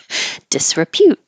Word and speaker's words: disrepute: not Specta spectacle disrepute and now you have the the py combination Pew like pew pew disrepute reviled it's not exactly